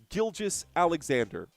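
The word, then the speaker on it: Gilgeous-Alexander: It's it's Gilgis Alexander. If you don't know how to pronounce the name, that's on you.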